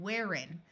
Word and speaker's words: wherein: Here we have two compound words, herein and wherein. Note that in most of the United States, this H is silent.